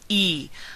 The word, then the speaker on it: y: e the word y the letter y is the word and in Spanish it's pronounced e Amar e is Roo